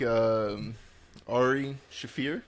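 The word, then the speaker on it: Ari Shaffir: I felt like Ari Shafir. Did I pronounce it correctly this time?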